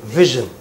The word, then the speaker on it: vision: vision Vision. for the It is. Pronounce this word right. Aparna, just wait there. Keep standing. Vision. Yeah. You know, like you say, shh. Similarly, it is vision.